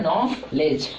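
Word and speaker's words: knowledge: इसको बोलते हैं नो लेज। ठीक है? नॉलेज में दो लेटर साइलेंट आता है। कौन-कौन? के और डी।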